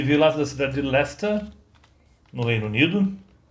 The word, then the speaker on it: Leicester: E o Family, ele veio lá da cidade de Leicester, no Reino Unido, que escreve-se Leicester, né, mas a pronúncia é Leicester.